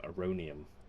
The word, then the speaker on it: Aronium: a good look a-r-o-n-i-u-m a-rhonium because it sounds like the word erroneous which is weird that's